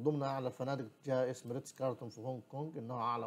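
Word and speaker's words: Ritz-Carlton: أعلى فندق في العالم يدعى فندق ريتس كارتون، وريتس كارتون كارلتون دي أخوانا، ريتس كارتون اللي هي ما بتنطقش ال في النص، المهم ريتس كارتون ده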